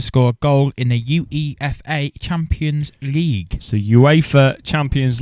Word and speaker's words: UEFA: Oh, it's- but you pronounce it UEFA.